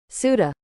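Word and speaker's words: Ceuta: How do you pronounce this? Suda.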